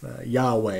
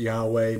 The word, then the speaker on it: Yahweh: Some scholars pronounce this, some Christian scholars pronounce it Yahweh.